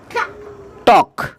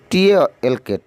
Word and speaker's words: talk: টক, TALK, টক, এখানেও এল এর উচ্চারণ হবে না, এলটা উজ্জ্ব থাকবে, সাইলেন্স থাকবে।